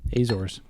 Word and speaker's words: Azores: Azores. Azores. Yeah. They have an E, but they don't pronounce it.